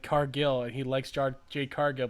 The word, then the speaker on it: Cargill: It's also Yeti who says Jade Cargill instead of Cargill, and he likes Jade Cargill but can't say her name right ever.